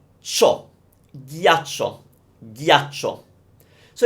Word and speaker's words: ghiaccio: But if you hear me say ghiaccio, ghiaccio, it's a strange word. It sounds ugly to me as well. So it's ghi, imagine like Indian butter, ghi, a, cho, ghiaccio, ghiaccio.